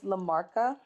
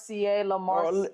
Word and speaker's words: La Marca: Yo, when in doubt, this La Marca.